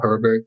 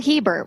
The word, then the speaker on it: Hebert: Do you know Paul Herbert? He blogs on Fistful of Talent. Oh, Paul Hebert. We got to say his name right.